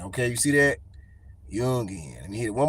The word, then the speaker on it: Jung: all right so okay it's yungan all right it's Yun so it's so because I I heard Bobby H talking about the dude and he was he was pronouncing it Yun all right all right so here we go Yun Carl Yun okay to describe Research